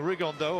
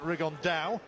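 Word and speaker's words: Rigondeaux: today's talked about fighting rig on though or as he's correctly pronounced with the Spanish accent rig on Dow and shoe absolute geniuses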